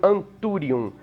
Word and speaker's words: Anthurium: deles por exemplo gênero anthurium que se escreve com esse th tem algumas diferenças de pronúncia gente fala como em português quanto exatamente aí o m do final tem que ser pronunciado né entendi agora por